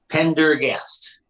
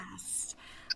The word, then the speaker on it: Pendergast: Pendergast, just phonetically correct. Pendergast.